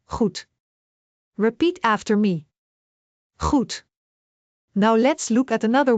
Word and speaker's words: goed: G is a soft throat sound. Like clearing your throat gently. Goed, repeat after me. Goed.